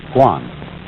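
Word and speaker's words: 觀: And that means seeing and the whole character is pronounced guan.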